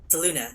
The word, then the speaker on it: Selûne: Selûne, that's how you say it.